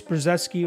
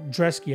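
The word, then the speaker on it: Brzeski: couple fights ago Lucas przeski or drezky I should say is how it's pronounced I really did impress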